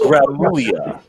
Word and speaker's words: Gramulia: It's pronounced Gramulia, by the way.